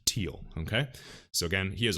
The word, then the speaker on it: Thiel: of the Don and I know his last name is feel but it's pronounced teal okay so again he